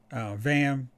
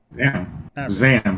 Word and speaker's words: Zam: Vam. No, why am I saying her name wrong? Zam. Zam. I was like, Zam. I was like, wait, that's not right.